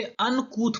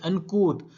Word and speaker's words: uncouth: दोस्तों इसे अनकूथ पढ़ते हैं और स्पेलिंग है UNCOUTH। UNCOUTH अनकूथ और इसका मीनिंग होता है अशिष्ट या गंवार।